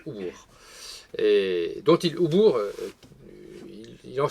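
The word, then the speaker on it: oubykh: Alors ça s'écrit O-U-B-Y-K-H, mais ça se prononce Oubourg.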